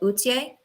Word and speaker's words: Authier: So it's French. It's French, so you can pronounce it Authier.